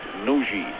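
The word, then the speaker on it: Nagy: back to the captain nogi spelt n-a-g-y but pronounced nuji this is carl valentine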